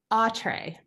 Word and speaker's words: Autre: pronounce the town? Autre.